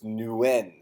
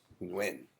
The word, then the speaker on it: Nguyen: essentially whatever the shortest transition you can make between N and W. So it's Nguyen or Nguyen.